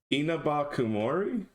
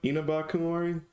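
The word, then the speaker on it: Inabakumori: romanized in one word I think it's en enaba Kumori no more more e not more a so like reading this it's like Ena bakori or Inaba Kumori or E NAA Kumori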